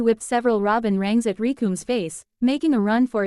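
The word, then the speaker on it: Recoome: The name's Rikum. It rhymes with doom.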